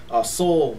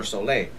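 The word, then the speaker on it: Soule: name wrong I'm sorry it's Charles soul with the e at the end so I don't know if it's Soul or soay but um so I read that accent no soul okay so Charles soul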